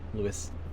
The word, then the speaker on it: Lewes: At least I'm coming to Lewes. Is it Lewes or Lewis? Lewis. I always forget how it's pronounced, that, to be fair.